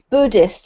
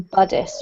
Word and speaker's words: Buddhist: This one is Buddhist rather than Buddhist, okay?